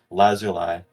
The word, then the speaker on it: Lazuli: The Oxford English Dictionary, and it's pronounced with it like lapis lazuli. Huh. That's how it's pronounced.